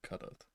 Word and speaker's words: Kadath: Okay, I was very close indeed. Kadath.